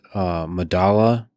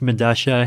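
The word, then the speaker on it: Medellín: I believe it's pronounced Medasha. It's a South American subway station. I forget where. But spelled with two L's. Yeah, because that's how Spanish works, right? Like the two L's have Medasha. Yeah.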